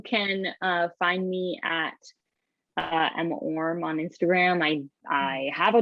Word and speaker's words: Orme: me it seems like, oh, of course you would pronounce it Orme, but so I think it's always funny when people call it like Orme, which to me sounds like Hermes, but obviously that's not what it sounds like.